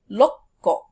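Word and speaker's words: ろっこ: The ko doesn't change, but it is the number that sort of gets shortened. So 1 is ikko, 6, rokko, 8, hakko, and 10, jukko.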